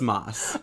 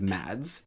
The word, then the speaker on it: Mads: yeah it's mas it's not it's mine it's moss oh no nobody ever says it right but it's it's pronounced more like moss than it is mads interesting well well well